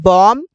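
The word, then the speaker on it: bomb: को भी बोलते हैं बी को नहीं बोला जाता इसे कहते हैं बॉम मतलब बम इसे कहते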